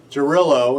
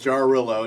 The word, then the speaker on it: Jarrylo: say about okay so jillo it it says pronounced jarillo named after the Slavic